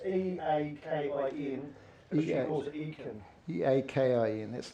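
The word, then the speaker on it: Eakin: It's How do you spell that? Aitken. She wants. It's E-A-K-I-N. She calls it Aitken.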